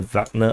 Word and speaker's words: Wagner: No, I like to call them Wagner because that I read it in English, but I know the proper pronunciation is actually Wagner. So former members of the Wagner PMC, and the convoy